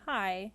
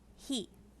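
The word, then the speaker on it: へ: ha next is he not pronounced high it's pronounced he this is one stroke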